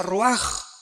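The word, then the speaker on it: רוּחַ: Aquí se usa otra palabra hebrea que es se escribe roach con R de Raúl A. Se pronuncia roaj.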